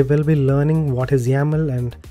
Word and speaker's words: YAML: yaml that is playbook.yml we pronounce it as yaml even though it is spelled as yml or yaml and the steps that